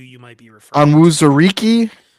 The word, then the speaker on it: Onwuzurike: Onwuzurike. Onwuzurike.